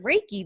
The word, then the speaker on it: Reiki: and just now like oh that's how you say it is right key that's how you say that word um could you first